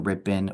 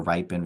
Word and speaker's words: RIPIN: much about the the I've heard it pronounced differently the ripin or ripen Rhode Island parent Information